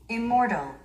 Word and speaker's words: immortal: Immortal, immortal. 스트레스가 이음절이 있으면서 immortal, immortal, immortal.